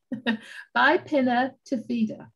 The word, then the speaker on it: bipinnatifida: It's Bipinnatifida. So it's B-I for bi, Pinnatifida.